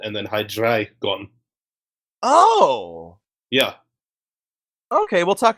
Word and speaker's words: Hydreigon: Okay, I've always pronounced it Heinz Hydreigon. Well, it's German numbers. It's Eins, zwei, drei. Oh, okay. Oh. So really it should be Hydreigon, but I say Dre because I'm American and we don't do foreign right.